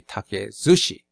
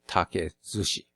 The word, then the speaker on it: 竹寿司: be Taki Zushi so the pronunciation changes when you combine two words together like Neko and shita it turns into nekojita same with take and Sushi it will turn into Take Sushi let's try translator with